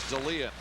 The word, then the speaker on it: Dahlin: I think after all this time, we're finally squared away on Ulf Dahlin's name. He says the correct way to pronounce it is Dalian. He wants it pronounced Dahlin.